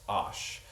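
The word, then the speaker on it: osh: Uh the cornerstone of Usuzbck cuisine is ash which is P L O V but I think it's Usuzbck to say is pronounced ash.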